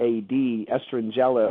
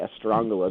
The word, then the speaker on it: Estrangela: right around 100 AD estrangela or some would say estrangala depending on how you pronounce it came into play uh